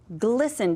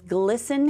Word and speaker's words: glisten: Glisten? Does glisten have any silent letters? Glisten? Yes, it does, right here. It has that ST.